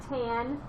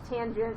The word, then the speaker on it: tangent: not cos it's cosine it's not tan tangent i know but yeah